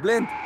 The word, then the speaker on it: Blind: It's pronounced blind. Roger that. Now it's a party. Young, cover the wing. I've got him! Smalling, don't let him through. They're everywhere! Blind, move forward. It's blind, like wind.